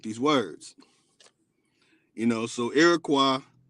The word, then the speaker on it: Iroquois: First of all, they didn't call it Iroquois. Some say Iroquois, but it's really Iroquois. O-I-S at the end is a French pronunciation of Y, but really, it's way. O-way.